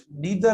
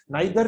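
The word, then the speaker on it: neither: और ये नीदर हम क्यों नहीं इस्तेमाल करते, क्योंकि नीदर और दूसरा है ईदर या आइदर, बेटा दोनों प्रोनाउंसिएशन है, नाइदर भी पढ़ते हैं और आइदर भी पढ़ते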